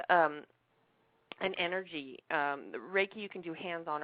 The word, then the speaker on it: Reiki: LIF style and is this reai am I pronouncing that right oh uh raiki raiki okay tell me about that well I do